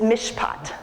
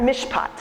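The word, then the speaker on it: mishpat: you two Hebrew words the primary word in the Old Testament for justice is mish pot say that mish pot that's justice the primary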